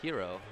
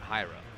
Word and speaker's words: Hero: out to people that my name is pronounced Hero, not Hyro?"